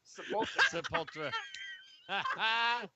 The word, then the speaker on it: Sepultura: I can't even pronounce it. It must be badass. yeah. Exactly. What's Sepultura? Sepultura.